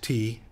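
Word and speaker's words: tè: uh with with their te culture uh but T in Italian is te te uh pronounced as if it was t a y is tea uh so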